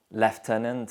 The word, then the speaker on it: lieutenant: This is obvious where 3 vowels combine to produce the F sound in lieutenant. 3 vowels and consonants also combine to produce the sound in colonel. Lieutenant is pronounced lieutenant in